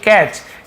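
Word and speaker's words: catch: यहां पर भी देखिए कैच टी साइलेंट है कैच चीनी पढ़ेंगे कैच पढ़ेंगे टी को हम लिखने जरूर है पढ़ने नहीं है तो कैच यानी होता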